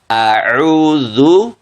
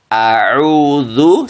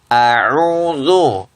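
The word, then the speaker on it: أعوذ: Ya itu suatu kesalahan Karena apa makhrajnya bukan di khaisyum tetapi di wasatul haqq ada atau Tengah tenggorokan seharusnya auudu audu seperti itu ya Ee Insyaallah seperti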